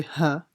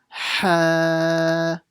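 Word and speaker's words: ح: This is a ha. Make sure you pronounce it from the middle of the throat. Don't say ha, a small ha, because that would be a big mistake. It's not ha, it's ha from the middle of the throat.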